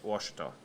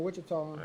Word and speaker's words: Washita: I'm saying it wrong? Yeah, Washita. Oh, Washita. I'm saying Wichita.